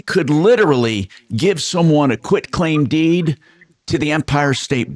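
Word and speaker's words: quitclaim deed: A quit claim deed often called quick as a uh because they they mispronounce it and they and it's quick. The process is quick, but it's actually a quit claim.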